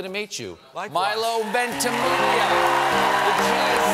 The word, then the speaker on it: Ventimiglia: Milo Ventimiglia. The chain is silent.